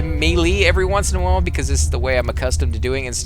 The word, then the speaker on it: melee: guy geez it's called it's pronounced melee I'm told guys I always say melee because it just seems right the way it's felt I